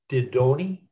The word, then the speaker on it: Didoni: Ashley, forgive me if I mispronounce, is the E long Didoni? Is that how you pronounce it? Yeah. Didoni, yeah.